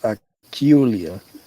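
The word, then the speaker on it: акула: and it's also the Russian word for shark, even though it's pronounced Akulia.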